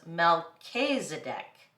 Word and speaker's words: Melchizedek: order of Melchizedek uh it actually even tells me how to pronounce it here it says Melchizedek see hey you learned something new